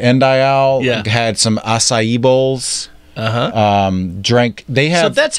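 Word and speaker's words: açaí: and went to end I all had some acai bowls drank they have that's how you pronounce it is acai you have this to see with a little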